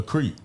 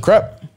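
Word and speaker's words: crêpe: A creep. It's not a creep. That's good enough, John. It's a creep to us. It's a crep. Crep. Crept up. What's it called? Crep. Yeah, you did great. Yep. Crep.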